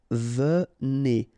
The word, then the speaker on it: venez: Okay, so a Z at the end combine will give you the sound E, and here you've got venez.